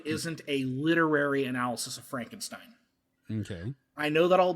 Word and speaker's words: Frankenstein: And it's pronounced Frankenstein. Frankenstein.